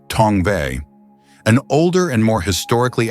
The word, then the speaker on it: Tongva: It is evident from Merriam's orthography that the endonym would be pronounced Tongva.